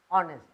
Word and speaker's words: honest: i must be honest h is silent so you say honest i must be honest